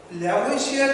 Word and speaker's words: Lavoisier: ঠিক এইরকম একটা পরীক্ষা করেছিলেন Antonio ল্যাভোইসিয়ের, অ্যানাটনি laureate D ল্যাভোইসিয়ের। অ্যানাটনি laureate D ল্যাভোইসিয়ের 1784 সালে অ্যানাটনি লরেন্স ডি ল্যাভোইসিয়া বলা হয় ফরাসি উচ্চারণে, LAVOISIER, ল্যাভোইসিয়া আর এর উচ্চারণ হয়।